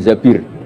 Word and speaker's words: Zabir: sama Abdul Abdurrahman bin Zabir. Di hadis ini bukan bacanya bukan Zubair tapi Zabir.